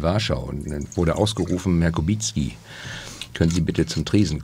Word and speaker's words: Kubicki: Polnisch würde ich auch Kubicki ausgesprochen. Ja, aber... Ja. Also ich bin ja, wenn Sie in Polen sind und Ihren staatsmännischen... Das war meine... Dann werde ich Kubicki angesprochen, darauf reagiere ich mittlerweile auch.